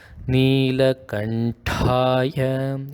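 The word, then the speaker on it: Nīlakaṇṭhāya: So it should be a ta, right? And it has a H, so it is a very forceful pronunciation. It is like ta. So this Nilakantaya is pronounced as Nilakantaya. It is a ta, right? Not a feeble one. It is very forceful.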